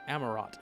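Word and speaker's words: Amaurot: amarat amarat it's called amarat It's pronounced with all of the syllables that are in it it does not have any hidden letters amarat the solution would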